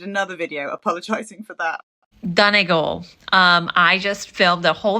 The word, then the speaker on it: Donegal: And she realised that she was pronouncing Donegal, Donegal, I think, anyway, she got it wrong. And she was trying, and I think she still basically got it wrong. So it's Donegal, for those who don't know.